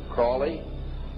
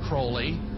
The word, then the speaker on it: Crowley: learned about was Alistair Crawley he likes to have his name pronounced Crowley to rhyme with holy and uh the Satanist